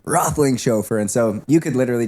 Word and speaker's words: Roethlingshoefer: But it's like all the mispronunciations of my name. So and and and then I finish it with Rothling Chauffeer.